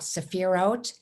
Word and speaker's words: sephirot: a little pronunciation about sephirot it has a t sound where the t and h are this is similar to the feminine name of esther the h is not pronounced with th the kabbalistic view of